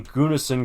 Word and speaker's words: Gunnison: Gunnison County, yeah. Gunnison? I don't know. Gunosun. Is that the Russian Colorado? It's in Gunosun In County. Russian Colorado, we pronounce it Gunnison.